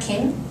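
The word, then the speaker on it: 김: So this has a sound of G, so you pronounce it with G. And this is E, so together it makes G sound. And this is a sound of M, so together it's Kim.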